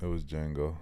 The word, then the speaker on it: Django: Yeah, it was Django on that bitch, with no D, actually Django Fat. But for those of you Django who do not no D transgender Django, yeah, no D.